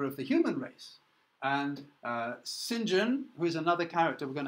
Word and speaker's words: St. John: now to this character Sinjin it looks like st. john by the way but it's pronounced Sinjin he's kind of key